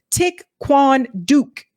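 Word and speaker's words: Thích Quảng Đức: tried the name of the monk is pronounced tick Quan Duke thank you duke like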